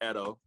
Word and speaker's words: Edo: i appreciate it and it's actually edo oh my god oh my god okay so when we look at it on instagram we pronounce it how we pronounce it so that is our fault yeah but it's okay everybody everybody without without meeting me they they pronounce it that way but my name is so it kind of like goes into like uh edo so yeah it's okay